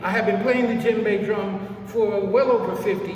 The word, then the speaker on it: djembe: This drum is called D-J-E-M-B-E. D-J-E-M-B-E. Djembe, that's how it's pronounced.